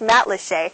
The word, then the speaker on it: Matlacha: of Lee County is spelled mat laa but pronounced mat lhe and believe it or not it's my very first time here so we're going to check it out together mat leet is the most colorful of the five communities